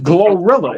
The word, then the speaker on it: GloRilla: way you pronounce it glorilla it's glow with a l yeah but it's it's glorilla it's why you ugly